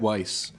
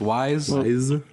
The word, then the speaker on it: Weis: I don't like it I've always said Weiss mm-hmm but they're telling me it's wise to refuse that was like